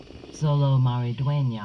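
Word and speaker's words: Xolo Maridueña: how to pronounce Zolo Maridueña.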